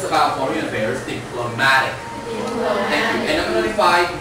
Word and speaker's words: diplomatic: 然后回到上面的外交的，移到 mad 上面，所以 we say diplomatic. Thank you. 但是如果是外交变成第二个音节 we say diplomacy. 呀，所以这个字在念的时候呢，就刚好是一个是第一个音节，一个是第二音节，一个是第三音节，可以吗？再确定一次，外交官 diplomat，外交手段 diplomacy， and if it's about foreign affairs diplomatic.